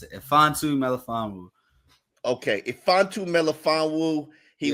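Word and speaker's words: Melifonwu: yeah roin fantu meanu that's that's how you pronounce it fantu meanu okay fantu melaan Wu he was a third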